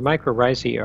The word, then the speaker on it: mycorrhizae: Mycorrhizae?